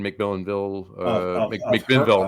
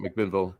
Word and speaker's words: McMinnville: Das Bier from Heater Allen in McMillanville. McMinnville.